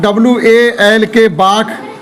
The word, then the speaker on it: walk: WA बाघ, WALK बाघ, L बोला ही नहीं।